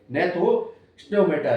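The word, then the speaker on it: Gnathostomata: एक को बोला गया एग्नेथा और दूसरे को बोला गया है नेथो स्टोमेटा। इसमें जी साइलेंट होता है।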